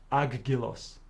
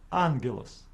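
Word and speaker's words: άγγελος: with a solution to pronounce the first gamma as n for example in this word we have two Gammas standing together it is incorrect for us to pronounce it as agilos we pronounce it as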